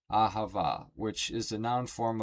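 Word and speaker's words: אהבה: But the word for love in Hebrew is ahava, pronounced ahava, which is the noun form of the root verb ahav, meaning to love.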